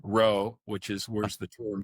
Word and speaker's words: rho: fancy term, Greek letter rho, which is where the term comes from. Looks like a lowercase p, but they pronounce it RHO, right?